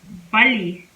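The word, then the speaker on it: 빨리: itself back to back it is pronounced more like and l sound as a double l double l double l for example bali buddy means fast like do it fast so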